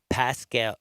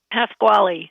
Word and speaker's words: Pasquale: And again, I'm talking with Lauren Pascal. No, it's 3 syllables. Say it. Pasquale.